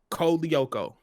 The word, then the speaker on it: Lyoko: Code Lyoko was another one.